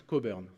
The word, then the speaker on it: Cockburn: On prononce Cockburn, très important.